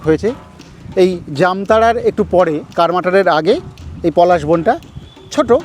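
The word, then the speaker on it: কার্মাটাঁড়: যাব এখান থেকে 10 কিলোমিটার দূরে কার মাটারে। সেটাই আমাদের আজকের ভ্রমণ তালিকার প্রথম গন্তব্য। একটা অসাধারণ সুন্দর পথ দিয়ে চলেছি আমরা। সুনীল গঙ্গোপাধ্যায়ের লেখায় পাই বাঙালি উচ্চারণে করমাটা। আসল নাম কর্মাটার।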